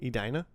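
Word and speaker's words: Edina: Adina.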